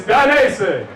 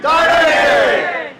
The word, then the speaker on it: Dainese: It's Dainese. On three, we're going to say it together. 1, 2, 3. Dainese! Don't that feel good when you say it right?